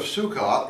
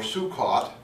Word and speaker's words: Sukkot: It's the Feast of Sukkot, or Sukkot. And in traditional, the traditional Ashkenazi pronunciation, is Sukkos.